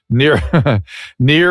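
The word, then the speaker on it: Nir: It's Near, N-I-R.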